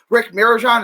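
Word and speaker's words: Rick Mirigian: Rick Mirajan, is that how you say his name?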